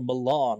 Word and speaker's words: Malin: The name of the next arc is Malin or Milan, if you're pronouncing it correctly, spelled M-A-L-I-N.